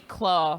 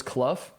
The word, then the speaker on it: Clough: keep it going also my last name is pronounced like tough that's oh did you did you mess up yeah sammy claw last time oh so it's cluff yeah interesting interesting anyway